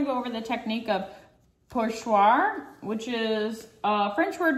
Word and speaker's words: pochoir: Today we're going to go over the technique of pochoir, which is a French word meaning stencil. It's spelled P-O-R-C-H-O-I-R.